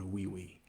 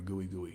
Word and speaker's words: Gui Gui: There's a remote beach here in Gran, Canaria, Spain called Wee, Guigui, but pronounced wee or gooey, depending on who you talk to.